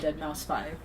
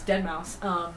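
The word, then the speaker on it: deadmau5: I used to call it Dead Mouse 5. So I still say it out loud, and it's embarrassing to think about because I know that's not how you say it. But in my mind, by myself, I say it. I just said it. Anyways, Dead Mouse.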